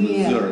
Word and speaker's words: Missouri: And you pronounce it correctly, because I know Peter James also used to say Missouri, not Missouri.